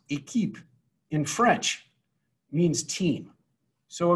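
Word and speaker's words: Équipe: us to the name equip equip which is pronounced a keep in french means team so a group of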